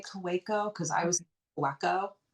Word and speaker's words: Kaweco: And when I bought my Kueko, or is that how you pronounce it? Somebody corrected me once and now I got embarrassed. Yeah, when I was at the stationery store, I think they did say Kaweco because I was Okay.